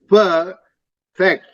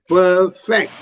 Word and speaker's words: perfect: the the word stress the syllable stress is important when you in the way you pronounce perfect you're stressing on the second syllable it should be on the first syllable per fact perfect syllable stress is important